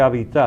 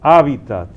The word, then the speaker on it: hábitat: que yo digo que algunos quizás por influjo del francés lo pronuncian agudo, di que habitat. Habitat. Yo he oído gente diciendo en la televisión, incluso habitat, no hábitat. Si se toma del latín, pues respetemos un poquito la acentuación en latín.